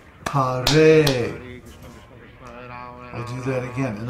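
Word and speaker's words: हरे: For example, Ha in Hare is a short syllable, but the Re is a long syllable because the vowel is A. So the word Hare is pronounced Hare.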